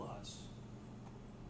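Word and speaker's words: loess: And L-O-E-S-S, there's no R in it, so it's Luss.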